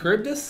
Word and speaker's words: Charybdis: Scylla and Charybdis? Yep. Good, I pronounced it right, thank God.